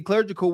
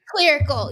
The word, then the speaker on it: clerical: Doing fancy clergical work. Clergical work. I can't say it right. Being a secretary. God dang it. clerical. Yes. Yeah, you said it right.